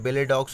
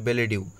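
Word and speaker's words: billet-doux: তিন নম্বরে কোশ্চেনটা দেওয়া ছিল যে হোয়াট ইজ দ্য বেলেডিউ, এটা অনেকে বেলেডক্স বলে, কিন্তু এটা প্রোনাউন্সিয়েশন হবে বেলেডিউ।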